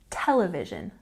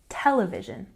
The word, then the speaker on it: television: break it down here television has a stress on the first syllable television television and the next one